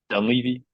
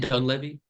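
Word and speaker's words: Dunleavy: actually so like dy I feel like I'm saying it wrong dun Ley it's isn't it dun Levy okay well you know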